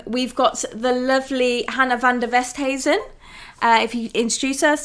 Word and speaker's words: Van Der Westhuysen: on today um we've got the lovely hannah van der westheisen uh if you introduce us tell us what